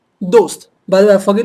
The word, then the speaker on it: दोस्त: No, so make sure it's completely touching the upper portion, and push the air from the back, the, all right? So dost.